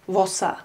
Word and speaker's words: Wossa: weggestrichen wurde, und Wasser, hier haben wir wieder die Vokaländerung von A zu O, Wasser zu Wasser. Das Wort teuwärts heißt talwärts, also das Wasser rinnt talwärts.